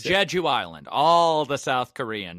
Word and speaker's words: Jeju: How do you pronounce that island in South Korea? I don't know. Korean. Jeju Island. All right, it's Jeju Island.